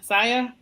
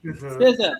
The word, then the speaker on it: SZA: And I'm going to pronounce her name. Is it SZA? Saya? SZA. SZA.